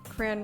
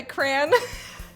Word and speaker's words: crayon: i don't know i'm from arizona and i seem to be the only person who says crayon with one syllable oh okay so mama meet boys with me i think i cran all right so me